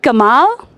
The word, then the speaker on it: Gamal: Gamma. Is it Gamal? Yes.